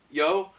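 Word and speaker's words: Yeoh: have sworn that Michelle, it's pronounced Yo.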